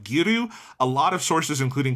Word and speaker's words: Giru: So it stutters on that second syllable. But it doesn't actually matter. But yeah. Yeah. I just noticed when I was listening that it's a soft Ru in the mouths of the actors.